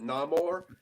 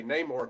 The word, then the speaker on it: Namor: say Neymar obviously because even though he pronounces it no more you hear um you hear shuri and other people say name or throughout the film I think it was